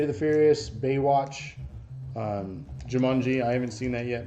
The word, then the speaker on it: Jumanji: what you're saying jumanji how do you say that like there's a u it's jumanji kimanji jimanji it's jumanji jumanji i say words